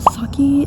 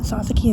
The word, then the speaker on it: Sasaki: Anyways, first we have Saki and Miyano, or actually I say that wrong every time, and I didn't know I was saying it wrong until I watched the dub like in English for the anime, but it's Sasaki and Miyano.